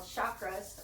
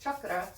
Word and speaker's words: chakra: down our spine called chakras or they're pronounced chakra in india but in america we say it's chakra and you have them